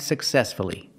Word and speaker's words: successfully: f l l y if you have two syllables and the stress is on the second syllable then pronounce the U respect see the stress is on the second syllable respectfully so we pronounce the U success again distress is on the second syllable so we pronounce the U successfully again respectfully you have